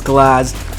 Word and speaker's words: Glaz: At number 1, there's no surprise, it is Glaz. I actually pronounce it Glaze as a meme.